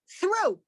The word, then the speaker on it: through: is an f but then you have a word t-r-t-h-r-o-u-g-h through you don't pronounce the gh in that case again if you're learning